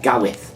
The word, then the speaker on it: Gawith: How do you pronounce it? Is it Gowith or Gareth? Gowith.